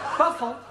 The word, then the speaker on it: buffalo: Yeah, words that end in O, like buffalo or radio or vertigo, you pronounce the O. But where there is no O, you don't add one, understand?